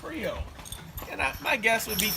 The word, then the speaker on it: Creole: They started to make it a 2-syllable word, which is Creole.